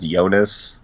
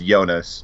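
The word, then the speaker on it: Joonas: night how is it is two o's in Dutch is that just an o sound like I think his name is yonas I think is how you pronounce it j o o n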